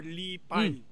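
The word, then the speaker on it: Li Bai: Ah lipo or Lipay.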